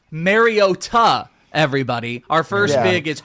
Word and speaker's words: Mariota: And now I don't like him because it's Mariota.